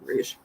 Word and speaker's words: Rouge: I was going to say, I know that it's pronounced Rouge, but we have a car. I don't have it anymore, but it's Rogue, but that's Rogue, so never mind, Rouge.